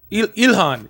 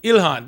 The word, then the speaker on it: Ilhan: Ilhan. Ilhan. There it is. Ilar. Oh, Ilhan.